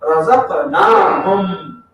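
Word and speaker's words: رزقناهم: If you don't pronounce that alif, you know what does it mean? Then it will mean those ladies provided. Ladies provided the.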